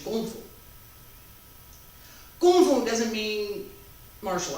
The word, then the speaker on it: 功夫: No, wait, kung fu. In Chinese pronunciation, kung fu.